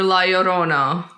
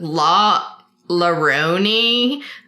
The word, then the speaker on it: La Llorona: take back people saying la llorona mispronouncing the peron family justice for lyorona she's a child killer okay here's my thing all white people are like what is that la la rooney and so i'm taking